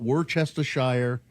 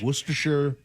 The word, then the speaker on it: Worcestershire: It's not Worcestershire. It's Worcestershire.